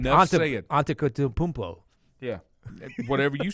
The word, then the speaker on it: Antetokounmpo: It's like Antetokounmpo.